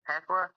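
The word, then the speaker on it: Thekla: Tequa. Yeah, like I get the the H is silent apparently.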